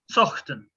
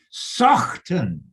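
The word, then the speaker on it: Saughton: Because Randy asked me, and I said, well, you'd pronounce that Sawton, you know, a bit like Saunton Sands or something, which doesn't have a GH in it, but you know what?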